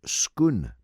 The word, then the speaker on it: Scone: by the way norma the town spelt s-c-o-n-e is pronounced skoon all right there's a